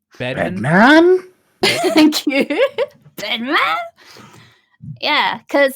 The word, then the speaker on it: Bedman: Bedman?